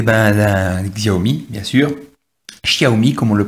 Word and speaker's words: Xiaomi: Xiaomi, comme on le prononce.